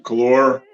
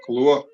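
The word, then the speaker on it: Kahlúa: uh White Christmas it's made with um some calore equal parts calore Bailey's and vodka with some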